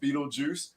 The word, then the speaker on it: Beetlejuice: when you read it, it is pronounced Beetlejuice.